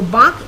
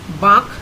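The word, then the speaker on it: বাঁক: shoja rasta turn is bach notice that the n is in bracket so it's not pronounced fully it's a light touch of n written with the chandra window in the script so bach is turned take a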